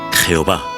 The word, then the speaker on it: Jehová: frecuente del nombre divino el tetragramatón que en español se pronuncia Jehová este nombre aparece casi